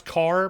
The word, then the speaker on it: char: To that end, we have a data type called character, or char, which I pronounce car because I don't say character, I say character, but when it's written, it looks like char.